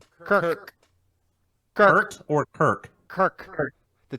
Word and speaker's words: Kirk: are you saying Kurt or Kirk? Kirk.